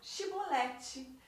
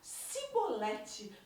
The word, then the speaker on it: chibolete: revelando sua verdadeira identidade Pois eram incapazes de pronunciar chibolete na realidade os efraimitas eles conseguiam pronunciar sibolete por causa do sotaque deles e aí eles foram